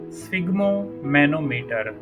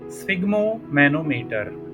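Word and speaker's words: sphygmomanometer: Pronunciation फिर से एक बार देखें, स्फिग्मो मैनोमीटर। और ऑप्शन डी हाइग्रोमीटर। रक्त दाब यानी ब्लड प्रेशर मापन के लिए कौन सा इस्तेमाल होता है? ऑप्शन सी, जिसका नाम है स्फिग्मो मैनोमीटर। स्फिग्मो मैनोमीटर। Pronunciation थोड़ा मुश्किल है ना, तो इसलिए इसको बार बार प्रोनाउंशिएट करने की भी प्रैक्टिस कर रहा हूँ।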